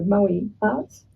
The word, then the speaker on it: Moartz: And I remember us coming up with the name MoArts, so Moe Arts, yeah. MoArts. And except it's spelled with a Z.